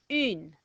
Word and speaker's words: une: a nose, so you hold your nose like you've just smelt a smell. And you might go, E. But I want you to make that a little bit shorter and a little bit stronger and go, E. E. Try that. E. Okay, now put an N after it and we get une.